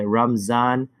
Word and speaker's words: Ramadan: And we're talking about there's three different ways, or three distinct ways that you and I speak or hear the word Ramadan. So you have number one, the ramen noodle type, Carl, and those are the Ramdans. So you guys are fasting in Ramadan. So you have the Ramdans. Then you have the Indo-Pak culture that calls it Ramzan with a Z.